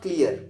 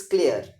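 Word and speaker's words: Clare: here shahinas and clear the pronunciation of c-l-a-r-e is clear it's not clear okay it's clear so shahnaz and claire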